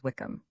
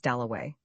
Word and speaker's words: Dalloway: Somebody had brought him over and Clarissa got his name wrong. She introduced him to everybody as Wickcham. At last he said, "My name is Doway."